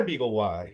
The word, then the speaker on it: BeagleY: give it so so why beagle y well it rhymes with sky and it rhymes with